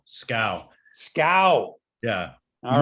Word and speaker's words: Schou: Sorry, I should have said it's actually pronounced Schou. Schou.